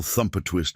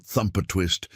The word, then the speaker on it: Thumper Twist: It's not thumper twist, it's thumper twist. The emphasis is supposed to be on the second syllable.